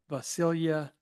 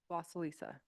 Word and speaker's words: Vasilisa: The first comment card that I have for this evening is Vasilia Kareev. And okay, come and say that louder for us. What was it? Vasilisa. Vasilisa. Yes.